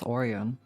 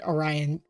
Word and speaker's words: Orion: if that's pois then that's oron that's the Big Dipper and that that's oh copia good job you did it that's the first time I've heard Orion pronounced that way oh it's because I